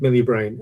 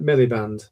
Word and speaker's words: Miliband: necessarily totally align with Ed Milibrain Ed Miliband. I always get his name wrong.